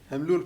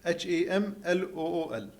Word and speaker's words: Hamlool: Hamlool Properties. Huh? Hamlool Properties. How do you spell it? H A M L O O L Hamlool.